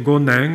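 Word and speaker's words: Gonin: conoscere a Manzoni Francesco gonen lo pronuncio così perché il cognome è delle Valli Valdesi che nel 1833 aveva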